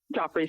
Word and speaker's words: Joffrey's: Now in September 2009, we first hear about the story where she appears at this restaurant named Joffrey's, it's pronounced? Joffrey's, yes.